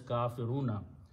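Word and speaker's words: كافرون: of making the plural you just add a wow and a noon at the end and pronounce as kafiruna there is another way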